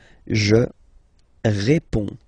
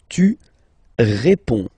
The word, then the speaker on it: réponds: Je réponds. Je réponds. Okay, so you can see that D and S here are not pronounced. Je réponds. Okay. Tu réponds.